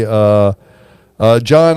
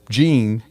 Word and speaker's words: Jean: John Isley, and his name is spelled Jean, so a lot of people incorrectly pronounce it as Gene.